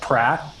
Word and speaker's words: Praat: She does some work with that type of thing with pronunciation, and she uses a program called Pratt. I think it's spelled Praat.